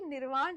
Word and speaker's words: निर्वाण: अब ये जो है ना इंग्लिश एंग्लोसाइज्ड वर्ड्स है, रामा, रावणा, महाभारता, पर आपको समझना है कि निर्वाण ही है इसका प्रोनाउंसिएशन।